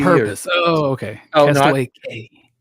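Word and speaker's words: Cay: Oh, no, Castaway K. is it K or Key? I never know. It's spelled K, but everybody says Key. Like even the Disney travel agents say Key.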